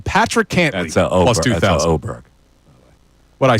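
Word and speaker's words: Åberg: That's Oberg. What'd I say? Aberg. Oh, I pronounced it right.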